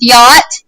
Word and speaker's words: yacht: we have, like with yacht, most of the time in the English language, we would pronounce that CH. CH is hardly ever silent in English words.